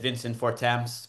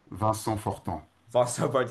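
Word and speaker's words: Vincent Fortemps: we were talking before I said Vincent Forms, but you said it's Vanson For Yes.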